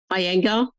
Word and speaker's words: Iyengar: teach yoga, and you're going to have to pronounce that for me, the Something Institute. Iyengar.